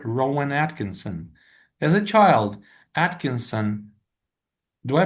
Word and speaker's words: Atkinson: As a child, Atkinson, do I pronounce his last name correctly?